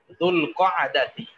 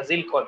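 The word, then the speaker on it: ذو القعدة: রজব শাবান রমাদান শাওয়াল দুলকদাতি আমরা জিলকদ বলি আসলে আরবি শব্দটা হলো দুলকদাতি দুলহিজ্জাতি হ্যাঁ আমরা জিলহজ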